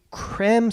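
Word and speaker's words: Creme: okay benjamin c-r-e-m-e look some people say cram some are saying cream i couldn't find a definitive pronunciation cremate benjamin born december 1922 he passed in october of 2016.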